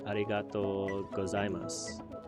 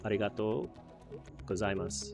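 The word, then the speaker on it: ありがとうございます: And you also just said arigatou gozaimas, which both of those words had U's on the end that are not very clearly pronounced as well. So arigatou gozaimas, I assume, is similar to domo arigato.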